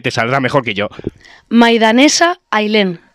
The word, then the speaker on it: Maidaneza Ailen: Maidanesa Ailén. Maidanesa Ailén. Así se pronuncia.